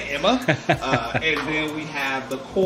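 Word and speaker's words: Aemma: Like the queen's name is Emma, but it's spelled like A-E-M-M-A. It's like, bitch, could you just say Emma?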